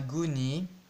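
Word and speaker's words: Gosné: Donc ce sera à Gonnet. G majuscule O S N et je sais, ça s'écrit Gosney, mais ça se dit Gonnet.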